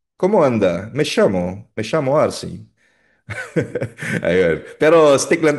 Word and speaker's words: llamo: Ang double L o double L ay binibigkas na parang Y, me llamo.